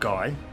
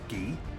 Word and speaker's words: Guy: which in the um previous video I called guy but I've since had a conversation with one of the creators of this game and we've decided I will go with the French pronunciation so this is ghee we have a DEA